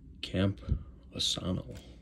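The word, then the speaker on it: Campusano: this way all right we have the camp Camp aano that's how you say it then we have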